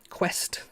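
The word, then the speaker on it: Qwiic: under lighting as well and it has two quest i've been told these are pronounced connectors which you know adafruit use quite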